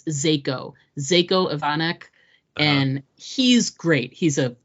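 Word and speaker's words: Željko Ivanek: I just wanna I love some uh you pronounce his name it's zako zako ivanek and he's great he's a well-known character actor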